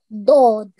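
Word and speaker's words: ض: Dod. Dod, very nice. And you pronounced it very correctly. It's a thick letter. It's a heavy letter. It will be pronounced with your mouth rounded a bit.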